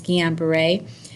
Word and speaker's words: Guillain-Barré: Some people pronounce it Guillain-Barré, but it's a French term. It's two physicians' names, Guillain-Barré.